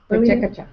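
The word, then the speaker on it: PechaKucha: Pacheco-cha.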